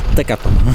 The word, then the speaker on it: Tekapo: Nie Tekapo, tylko Tekapo. Pracy nad akcentem.